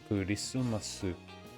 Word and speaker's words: クリスマス: クリスマス Kurisumasu. This one does actually pronounce it like ku, because they don't have the C sound in their language.